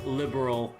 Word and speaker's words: liberal: Trail's first chapter of them being directed to say liberal instead of liberal, like rhymes with pearl, you know, like oh my god.